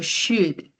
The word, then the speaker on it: should: particularidad y es que la L es muda. ¿Qué quiere decir eso cuando una letra es muda en inglés? que aunque se escribe la palabra, cuando la vamos a pronunciar, no vamos a articular ese sonido. Luego yo no digo should, sino digo should. Should es como si obviara la pronunciación de la L.